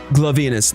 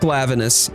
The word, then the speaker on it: Glavenus: Glavenus, that's right. Not Glavenus, even though that's probably the proper way to pronounce it.